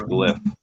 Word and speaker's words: glyph: Glyph. It's glyph. What? That's how you pronounce it. Glyph. Yeah, because it's an extension of hieroglyphics.